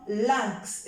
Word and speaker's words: lynx: c'est le 1 ici le y c'est comme le i mais lui aussi avec un N je prononce 1 1 comme lynx si vous cherchez sur